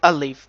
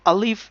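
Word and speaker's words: ألف: letter, so we are not touching our tip of tongue, our middle of tongue, back of tongue, anywhere. So just sound comes from the emptiness of the mouth.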